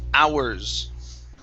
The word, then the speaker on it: hours: the word uh ours the h is silence instead of hours it's hours hours okay watch that r